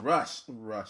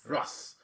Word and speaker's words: Russ: Well, like last week, I guess blogging, the music blog shit was really up in arms off of dude Rush. How do you say his name? Russ.